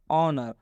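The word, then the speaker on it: honor: ऑनर में आप देख सकते हैं एस के बाद से ओ आया है। और जब भी जब भी एस के बाद से ओ आता है तो इस एस का उच्चारण नहीं करना है।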